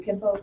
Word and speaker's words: Kempo: Did I pronounce it correctly, Kempo? Yeah, American Can you tell Kempo.